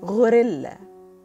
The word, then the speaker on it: غوريلا: the word like in غوريلا It's pronounced almost like the English word gorilla and this is a nice gorilla who is taking some rest So gorilla is gorilla.